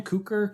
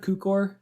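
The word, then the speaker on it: Cukor: George kukor how do you say his name cooker kukor do you know it might be qcor qcor George Q core who made plenty of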